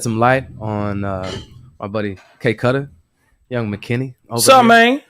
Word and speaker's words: KKUDDA: I'm basically everywhere with the handle K Cutter Music. So it's spelled KKUDDAMUZIC. A lot of people pronounce it Kuda or whatever.